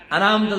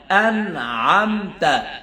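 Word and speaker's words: أنعمت: শব্দ, আন পরে আন, আনামতা না হয়, আনামতা না হয়, আন'আমতা, খেয়াল রাখেন, আন'আমতা আন'আমতা আলাইহিম আলাইহিম, সিরাতাল্লাযীনা আন'আমতা আলাইহিম, আন'আম এরকম যেন হয়, এরকম দাবায় যেন হয়, আইনের উচ্চারণটা নরম হবে।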